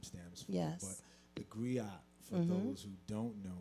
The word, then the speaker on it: griot: So along with saying warrior, we say warrior griot. Did I pronounce that correctly?